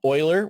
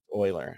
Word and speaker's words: Euler: then what type of sampler you prefer um Euler which is how you say that word um it's a last name and it's not right Euler Euler is a 15th century mathematician and we still